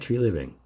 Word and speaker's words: Treliving: be interesting let's talk about it so Brad tree living yes I'm saying it right this time comes